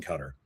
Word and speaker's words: Qatar: In every single statistical category that we are discussing today, they are crushing cutter the orqatar. I guess I can pronounce it both ways.